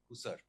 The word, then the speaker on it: Hussar: How's it pronounced? Hussar or Hussar? Hussar.